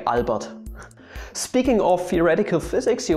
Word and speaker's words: Albert: name wrong or they pronounce his first name as albert but you should say albert speaking of theoretical physics